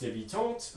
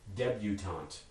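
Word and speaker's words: debutante: english is going to impose english phonotactics on it and make it debutant so lots of changes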